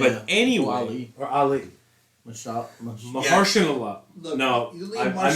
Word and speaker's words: Mahershala: I believe his name is Marshala Allah, if I'm not mistaken. How do you pronounce that?